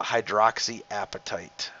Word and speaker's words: hydroxyapatite: We call it hydroxyapatite. And that's not appetite like you're hungry either. You can see it's spelled A-P-A-T-I-T-E.